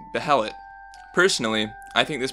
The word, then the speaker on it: Beherit: The consensus behind the R pronunciation stems from the roots the word Beherit already has in other languages.